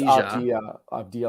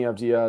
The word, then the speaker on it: Avdija: I think it's Avdija, like it's a Y.